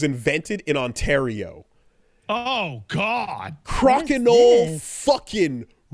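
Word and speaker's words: Crokinole: I have gotten into a new game called Crocenol. Okay, how the do I spell that?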